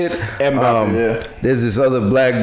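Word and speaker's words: Mbappé: Mbappe. Is that his name? Is that how you say it? Mbappe, yeah.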